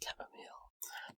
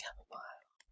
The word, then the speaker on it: chamomile: Now some of you guys may pronounce it chamomile, but I pronounce it chamomile.